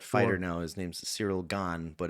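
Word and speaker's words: Gane: uh there's that fighter now his name's cyril gone but it's it looks like gain but it's pronounced game but it's gone yeah so maybe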